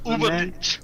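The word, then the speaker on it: Übermensch: The Ubermensch? It's Das Ubermensch.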